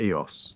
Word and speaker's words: Eos: Let me introduce you to Eos. Her name is pronounced E-O-S-S, soft and gentle, like a sigh.